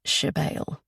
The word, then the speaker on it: Sibyl: Only my mother calls me Shebale, she says, pronouncing the word as Shebale.